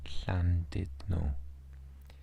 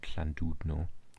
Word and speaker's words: Llandudno: Oh, Llandudno. So you can see that the U is pronounced like an E. Llandudno. Not U. It's not Llandudno.